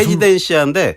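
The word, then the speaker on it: Residencia: 그러니까 헤지덴시아인데 네. 영어로 해보면 쉬워요. 그러니까 R 발음이 H 발음이 나거든요. 스페인은.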